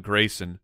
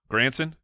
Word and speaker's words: Granson: not gonna did I what did I say his name wrong granson I thought it was Grand yeah it is grandson yes you are correct yeah I'm not I'm